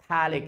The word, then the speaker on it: phthalic: will say thalic acidalic p is silent over their phthalic acid pathallic acetallic acid and